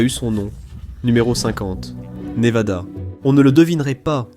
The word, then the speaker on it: Nevada: Les habitants disent VAD dans Nevada, tandis que les autres disent VA les Névadans, les Névadans.